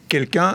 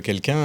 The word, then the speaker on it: Kelkun: Quelqu'un, alors ça s'écrit comme on le voit sur votre t-shirt, votre chemise.